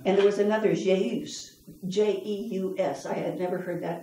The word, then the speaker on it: Jeus: And there was another, Jeus, J-E-U-S. I had never heard that name before. But I remember Dad mm-hmm.